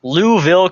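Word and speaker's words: Louisville: where it opens up with the lady going louville Kentucky yeah that's how it's pronounced try again who just ignore that eye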